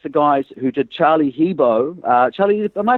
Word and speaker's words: Hebdo: the attack against the guys who did Charlie Hebdo. Charlie, am I pronouncing it correctly? It's Hebdo.